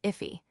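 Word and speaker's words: IIFE: Immediately invoked function expressions if an if pronounced iffy is a function expression that is executed immediately after it is defined.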